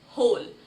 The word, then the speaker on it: whole: For an example, let's look at this word, whole, W-H-O-L-E. But when we pronounce this word, we will not pronounce the letter W.